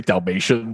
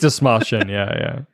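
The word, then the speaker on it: Dastmalchian: I always want to say Dalmatian, but I think it's Desmalchian.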